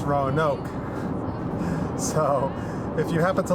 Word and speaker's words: Roanoke: town we're going to it's not rowan nook it's roanoke so if you happen